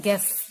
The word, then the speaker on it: guess: है, जैसे मान लो गैस, GUESS, तो इसको मैं ग्यूस नहीं बोल सकती, ये है गैस। ठीक है, तो यू साइलेंट है।